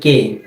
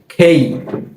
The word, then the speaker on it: K: এরপর এই বর্ণটাকে আমরা সবসময় বলি কে। এটাকে কি বলি? কে। তবে এই বর্ণটির সঠিক উচ্চারণ হচ্ছে খেই।